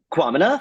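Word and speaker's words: Kwamina: I actually don't Quamina. know how to pronounce it. Quamina, thank you.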